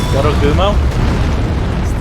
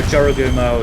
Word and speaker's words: Jorogumo: think it's pronounced like that. Hinoenma? No, the spider lady. Yorogumo?